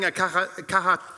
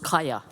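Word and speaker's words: Kaja: It's actually pronounced Kaya, but that's quite all right.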